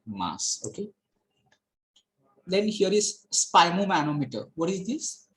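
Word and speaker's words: sphygmomanometer: Then here is spimomanometer. What is this? How to pronounce it? That is spimomanometer. Okay, G is silent here.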